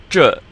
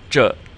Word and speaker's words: 这: Now, you have this E on the end, so we have the vowel ending like in the. And then you started off with the zhi, as in 中国, and what we just learned with 照片. So you're curling your tongue. And here's the result.